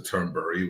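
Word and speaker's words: Thunberg: them Den they despise Greta terberg or Greta turnbury which is how you say her name etc etc do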